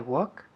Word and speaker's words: walk: I walk where he walks. Good. Walk. La L no se dice. Walk. Walk, no walk. Walk, decimos.